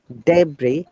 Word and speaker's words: debris: same way once again illinois debris shashi there is no s sound and also if you